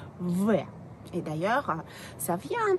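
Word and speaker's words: В: Ensuite, on a la lettre V. Donc, le B, c'est V.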